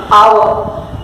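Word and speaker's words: hour: For that example, we take our, H-O-U-R। See here, the word start with H, that is consonant, but the pronunciation is with vowel R, what we have R, R।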